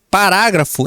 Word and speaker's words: parágrafo: Não, nós falamos parágrafo.